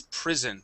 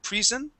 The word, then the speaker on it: prison: Okay, uh last one is prison. Instead of prison, it's prison with a short I uh prison.